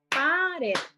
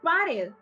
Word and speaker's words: pared: Y vamos a verle el otro ejemplo que es pared. Entonces, según el aplauso que yo vaya dando, dando, eso es las sílabas en las que está dividida mi palabra.